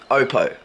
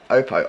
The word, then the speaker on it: Oppo: it and you know Oppo opo Oppo opo um the way that they pronounce it it's it's a Samsung